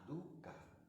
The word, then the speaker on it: dukkha: Dukkha se escribe D-U-K-H-A, dukkha, dukkha, con H después de la K, dukkha.